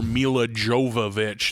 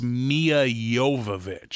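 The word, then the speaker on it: Milla Jovovich: wait a second yeah we've been calling her mila jovovich this whole time and that's not how you say it how do you think about your name i think it's mia yovovich i think the soft j and the soft l and the softball interesting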